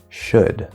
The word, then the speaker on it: should: And remember, in would, could, and should, the L is silent. It is just spelling.